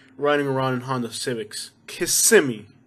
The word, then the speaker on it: Kissimmee: around in honda civics kissimmee not kissing me or kissimmee say with me kissimmee and if i say